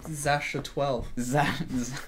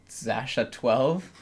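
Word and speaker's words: X Æ A-12: Congratulations to their new baby, Zasha 12. Yeah. Which, so if you're wondering, that's how it's pronounced. Yeah, apparently. So its X is like a Z. Yeah. The AE symbol is pronounced Ash, apparently.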